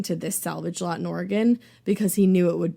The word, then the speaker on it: Oregon: super highresolution photo of a wrecking yard in Oregon. Huh? Did I say that right this time? Oregon.